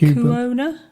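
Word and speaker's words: Lecuona: can't pronounce that uh lee kuana like co-owner yeah co-owner cuban boys la havana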